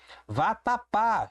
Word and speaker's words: vatapá: Vatapá. Show de oxítonas aqui, não é isso? Vatapá. Vatapá. Última sílaba tônica terminada em A.